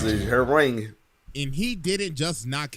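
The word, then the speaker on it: Hwoarang: That's how you pronounce it, Harang.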